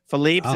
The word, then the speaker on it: Philippe's: The owners don't say Philippe's, even though that's the correct pronunciation. Philippe's is the correct pronunciation, but it's not how they say it.